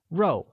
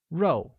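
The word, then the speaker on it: 肉: meat meat translates to row which is pronounced with a falling tone like row excellent the sentence my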